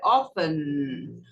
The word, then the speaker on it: often: E a palavra mais importante é a palavra frequência, que é often. Engole o T e pronuncia com o nariz, joga o T para dentro do nariz.